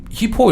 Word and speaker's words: hypo: 그래서 히포 이렇게 하면 좋겠는데요. 강세에 따라서 발음이 하이포 이렇게 될 수도 있어요.